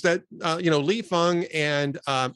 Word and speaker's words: Fang: uh you know Lee Fung and uh I believe you pronounce it it's spelled Fang but I think he pronounces it Lee Fung and Ken klippenstein note